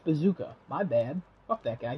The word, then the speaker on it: BZKA: And then best esports coach, BZKA. Oh, pronounced Bazooka.